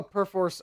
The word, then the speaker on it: Perforce: I did wrong that bom says it's not perforce it's per force I had to call their